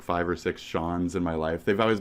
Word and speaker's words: Sean: It's purely based on how they say my I just say Shawn.